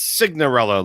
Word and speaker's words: Signorella: Now it's not Cinderella with the glass slipper. It's Signorella.